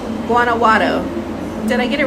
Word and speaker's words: Guanajuato: Okay, if I say the word Guanajuato in 2 words, you will say it right. And first say the word guana, and then Watto, and then say the whole word Guanajuato.